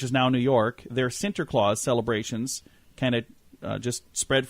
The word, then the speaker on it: Sinterklaas: name Santa Claus was derived from the Dutch Sinterklaas which the that's the pronunciation of Sant Saint Nicholas it says here the